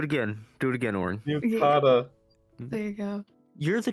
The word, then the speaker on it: yukata: Yukata.